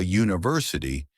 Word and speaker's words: university: But we say a university because university starts with a U sound.